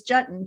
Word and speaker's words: Juetten: that's most people know what a button is jutting rhymes with button now you'll never forget i love